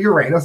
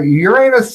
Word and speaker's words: Uranus: of Uranus which is pronounced the way any self-respecting class clown would say it so so much for the Uranus Examiner uh Uranus it's along route 66